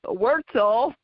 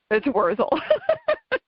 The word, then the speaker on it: Wurzel: So when my younger brother, got a little more sophisticated, he changed the pronunciation to Wurzel, but people put a T in there and call it Wurzel, but it's Wurzel.